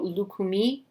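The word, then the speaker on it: Lukumí: There's an accent on the I at the end of this word, so Lukumi, practitioner.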